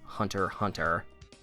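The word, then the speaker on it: Hunter × Hunter: you may also know mr tagashi as the creator of another famous shonen jump series hunter hunter and yes that is how that title is pronounced and for as good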